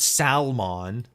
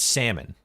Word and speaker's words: salmon: How do you pronounce salmon? There's no L in salmon. It's not salmon. It's not a fucking Digiman. It's salmon. And I should know how